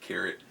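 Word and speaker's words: Kehret: is by peg carrot is a carrot it gets pronounced to carrot I love this cover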